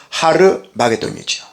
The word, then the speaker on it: 하르마게돈: 아마겟돈은 정확한 발음은 하르마게돈이죠.